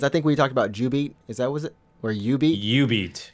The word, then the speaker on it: jubeat: It's pronounced Ubeat. But anyways, oh yes. my goodness. So for anyone who doesn't know, there's an arcade game from Konami called Ubeat.